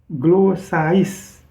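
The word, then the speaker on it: γλώσσαις: Ini adalah kalau kita baca, kalau saya mau eja di sini adalah gamma, lambda, omega, sigma, alpha, iota, sigma. Glossais, ya, dibacanya glossais. Nah, glossais ini, ya, kalau kita lihat diterjemahkan dalam bahasa Inggrisnya itu tongue, atau language, atau bahasa, ya.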